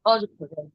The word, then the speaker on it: অর্ঘ্য: মর্ত, আর, আর্ঘ, আর, অর্ঘ, না না, এটা হবে অর্ঘ্য।